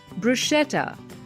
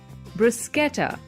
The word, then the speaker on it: bruschetta: a type of garlic bread and the right pronunciation is bruschetta but most people say it as bruschetta yep that's right another new word is fire